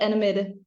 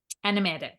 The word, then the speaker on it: Annemette: without me absolutely but in it I'm called anim anim yeah very good what is the parental leave